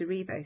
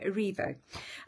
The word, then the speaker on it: Erivo: aivo sorry I do I always say it's AO and it's aivo Cynthia arivo um she was phenomenal